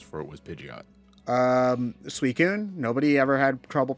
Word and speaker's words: Suicune: often i think because as a kid i called it sui sun for like 10 years i always pronounced it with the heart c yes yeah yeah no we uh we always called it suey soon or suey kun or something like that we over pronounce the eye sweet good all right